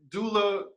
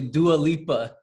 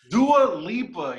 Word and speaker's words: Dua Lipa: did you think about doula what's up okay it's actually dua lipa do a lipa yes oh my god